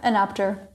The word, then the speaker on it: Enapter: of the co-founders of anap do do I pronounce it correctly anap or inap yeah anap are you curious about the the meaning it's